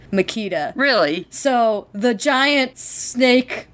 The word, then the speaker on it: Machida: here's the thing about makita uh i think it's in the the commentary where david greenwalt says it but it's named after a power tool it's a power tool brand makita really so the giant